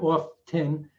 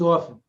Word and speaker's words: often: shouldn't be pronounced like the t in often it's not off tin it's often same thing with salmon